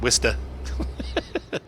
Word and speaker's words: Worcestershire: And also I know that Worcestershire is pronounced Worcester.